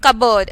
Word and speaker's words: cupboard: Similarly, the letters D, P, N and T are silent in the words handkerchief, cupboard, solemn and thistles respectively.